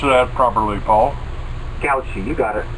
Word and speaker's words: Gautschi: And my guest today is Paul Gautschi. And please help me pronounce that properly, Paul. Gautschi, you got it. Gautschi.